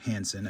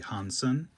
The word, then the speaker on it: Hansen: I am trying to PC Yang Hansen. I believe it is actually Hansen. The sort of the soft A, soft E, the Chinese pronunciation.